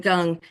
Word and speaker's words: gong: says that it's gong well it's but it's pronounced Gung so Chiang um so gung is the action